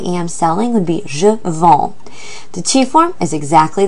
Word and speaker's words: vends: So to say I sell or I am selling would be je vends. The tu form is exactly the same word. Tu vends. Notice that S is silent.